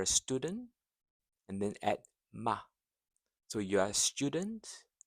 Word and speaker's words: 吗: So it's a neutral tone, light and short, just like the article the. Neutral, light and short. The.